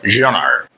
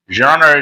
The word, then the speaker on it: genre: In French, actually, it is pronounced genre. But in English, they pronounce it genre. So you may pronounce either way you like.